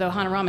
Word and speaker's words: Ohanarama: legs so so really what we've built with ohana ramen i'll give you a sneak peek into some